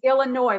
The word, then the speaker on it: Illinois: for the record people it's illinois like annoy at the end um and and so